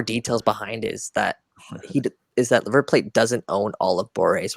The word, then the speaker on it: River Plate: By the way, it's River Plate. That's how you pronounce it. It's not River Plate.